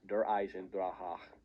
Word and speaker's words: Der Eisendrache: number three we have der eisendrache you have to pronounce it like that otherwise there will be angry german people in your comments this map is perfection